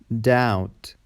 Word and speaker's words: doubt: B is silent before T and after M. For example, debt, doubt, saddle, dumb, tomb, comb.